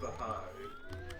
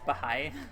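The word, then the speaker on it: Bahá'í: pronounces the correct it's pronounced the high apparently which is a lot simpler than I it's it's Bahai what is what is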